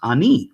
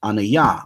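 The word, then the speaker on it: אני: Those who know Hebrew, standard Hebrew, would say it's pronounced ani, right? And they would say, no, it's pronounced anaya, or the Torah Night cats would say ane or something like that. But the point is that from this ancient transliteration, this 2,000-year-old transcription, it implies that it actually is pronounced ani, because if it was anaya or ane, that would have been reflected in the transcription. It's not anaya, clearly.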